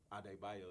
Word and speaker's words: Adebayo: Ade Bayo is my full first name. Oh, Yeah. spelled like ADEBAYO.